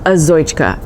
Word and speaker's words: Azoychka: It's called Azoychka, and it's a woman's name and it has a lot of consonants but easy to pronounce once you just follow the letters.